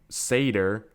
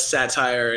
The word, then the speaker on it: Satyr: can pronounce it yeah we get a lot of satire and sits here and that kind of thing yeah but so yeah